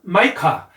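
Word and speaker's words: Micah: 그리고 미가서는 마이카. 자, 그러니까 보시면 패턴이 있는데요. I 발음이 이 발음이 나냐, I 발음이 나냐 이거에 따라서 들리기가 굉장히 다르게 들려요. 미가랑 마이카랑 이게 전혀 다르게 들리잖아요. 그렇죠?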